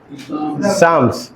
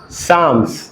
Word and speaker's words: Psalms: करता है, only PSALM, एंड in that L is silent. So Psalms, not Islam. Psalms. L is silent, but L वहाँ जरूरत है।